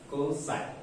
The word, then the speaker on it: cos: Cosine, abbreviated as a cos and pronounced as a cosine.